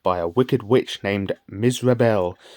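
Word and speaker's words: Mizrabel: a wicked witch named misel which sounds remarkably like miserable if you say it right and that makes sense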